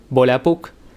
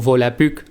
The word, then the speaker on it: Volapük: Pero no es sino hasta el Volapük, o Volapük, como se pronuncia en ese idioma, que tenemos el primer